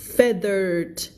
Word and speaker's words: feathered: There was rustling in the leaves above him คำว่า rustling ในที่นี้คือเสียงแบบเธอเหมือนมีเสียงอะไรอยู่ในหญ้าคิดว่าไหมมันเป็นเสียงมันมีอะไรขยับอยู่อ่ะWhat looked like a feathered นะคะไม่อ่าน feather นะภาษาอังกฤษง่ายนิดเดียวไงเพราะว่าถ้าเป็น feature ก็อ่านว่า feature แต่พอเป็น feather ไม่อ่าน feather อ่ะไม่อ่าน feet